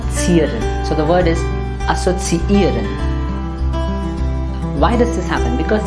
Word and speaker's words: assoziieren: There are two e's in the verb, and they should be pronounced separately.